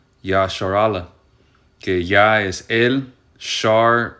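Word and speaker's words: ישראל: de yah bash voy el nombre Israel significa en el hebreo se pronuncia yashar ala que ya es el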